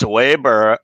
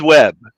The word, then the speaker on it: Webb: But Ching, I think you're using the Chinese pronunciation of my name, which is Weibo. Weibo. Weibo. Right. Weber. Yeah, it's just Webb. Just Webb. Okay. Web. Okay. Web. Like Yeah. World Wide Web.